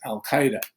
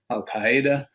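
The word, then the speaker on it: al-Qaeda: of what's known as al Qaeda you'll see it al Qaeda al Qaeda pronounce different ways in my research studies of Arabic I'd say it's al Qaeda was the best way to pronounce it so he leads that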